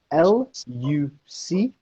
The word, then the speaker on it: Luc: If you want to do some research, it's spelled L-U-C, Luc Montagnier, M-O-N-T-A-G-N-I-E-R.